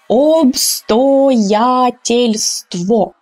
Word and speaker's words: обстоятельство: So if you see an O, you will say O, right? So to train your articulation. Обстоятельство. Okay, but this is only if you are a beginner and if you want to really practice pronunciation. But of course, you know now that native speakers will reduce these O's.